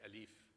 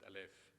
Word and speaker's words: Aleph: And in modern Lebanese, we say Alif. In Phoenician, they pronounced it Aleph.